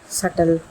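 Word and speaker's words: subtle: सटल, सटल का मतलब होता है सूक्ष्म यानी छोटा।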